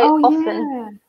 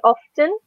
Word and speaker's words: often: key so you say often yeah I I normally don't I usually don't run it's completely fine to not pronounce the T or to pronounce it personally I say often MIT is very clear